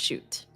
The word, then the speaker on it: Shut: I believe it's pronounced shoot.